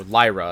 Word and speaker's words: Lyra: to differentiate his world, Lyra's world, or Lyra, apparently is how it's pronounced. In my head, it will always be Lyra.